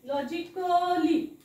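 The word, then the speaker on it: logically: तो वाचायचा नसतो बघा बरेच जण कसं वाचतात हे हा शब्द होतो लॉ जी लॉजिक कली कली लॉजिकली लॉजिकली क ली असं वाचतात लॉजिकली सो लॉजिकली नाही वाचायचं आहे लॉजिकली वाचताना कसं वाचायचं ह्याला लॉजिकली लॉजिकली म्हणजे क म्हणायचं नाही अ साऊंड येऊ द्यायचा नाही लॉजिकली लॉजिकली तसंच हे पण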